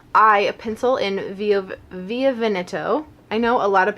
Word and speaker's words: Via Veneto: larger than life I a pencil in via via veneto I know a lot of people pronounce it via veneto and that's not correct I learned that by